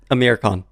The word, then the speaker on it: Amir Khan: Amir Khan.